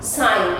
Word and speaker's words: sign: Next are the words where G letter is silent. Sign, sign, S-I-G-N.